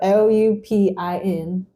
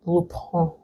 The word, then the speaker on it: Lupin: seen Lupin on Netflix it's French so it's not actually pronounced like that it's lupon and it's a French